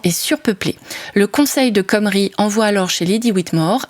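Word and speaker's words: Cymru: Mais l'abondance qui règne sur Hibernia commence à susciter la convoitise de Comrie. Alors, je précise, c'est écrit C-Y-M-R-U, mais ça se prononce Comrie, comme nous l'indique la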